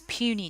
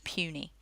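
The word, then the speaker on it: puisne: which are known as puny judges so that word you can see there is pronounced puny inferior judges our circuit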